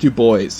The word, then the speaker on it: Du Bois: yeah yeah one of them was a w.e.b du bois another boston staple sorry say that again w.e.b du bois i took a class and that's how it's pronounced that's how it's pronounced really it's pronounced to boys yes that's all right i was going to